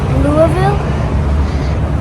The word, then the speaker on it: Louisville: So we learned that we are supposed to pronounce it Louisville, and right now we're walking through Louisville, and we're going to see a big baseball bat.